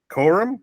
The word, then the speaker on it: Corum: I took a running back from Michigan, Blake Corum. Corum, is that how you say it?